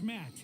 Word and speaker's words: Matt: The name's Matt. The second T is silent.